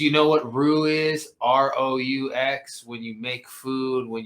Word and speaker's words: roux: ROUX. When you make food, when you're making gravy. I call it rocks. I know it's like. I call it rocks. Pronounced like that. It's pronounced roux.